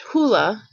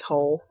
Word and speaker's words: Hole: and technically his um his name is actually pronounced hula but i feel really weird when i'm reading the book and saying hula in my head so i just i i go with whole whatever anyway harry is